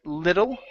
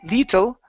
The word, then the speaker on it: little: go to the word little right here instead of lee little little defiantly it's little lethal there you go little